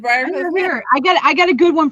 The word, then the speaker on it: Briarcliff Manor: This one I always get wrong, and I don't know why, but I always call it something different. What's the name of the asylum? Briarcliff. You always say it wrong. I always say it wrong. I always say it wrong. But you want to say the whole thing? What is it? What did you say, Don? Briarcliff Manor. That is correct.